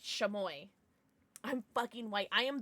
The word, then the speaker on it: Chamoy: Chamoy.